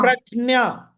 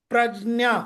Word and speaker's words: प्रज्ञा: रहे हैं, बट ग नहीं बोलना है, ग इज रॉन्ग, ग उसमें है ही नहीं।